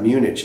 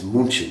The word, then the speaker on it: München: And just like Munich, it's not Munich, it's München. I don't know, for some reason, I guess we can't pronounce it, so we just made a totally different name.